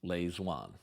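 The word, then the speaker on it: Lê Duẩn: lean that's spelled l space Duan but it's pronounced Lewan hoi men and Lewan were both totally committed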